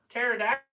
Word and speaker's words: pterodactyl: Why can't you hear a, oh wow, pedactyl Pterodactyl. into the bathroom? Because the P is silent.